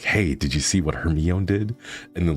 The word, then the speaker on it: Hermione: be all like hey did you see what Hermione did and then like talking they'll be like no should we it's actually pronounced Hermione you know like we didn't have that so